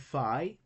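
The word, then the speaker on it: φ: We have phi. Phi is pronounced like F in foot, and the English equivalent is PH.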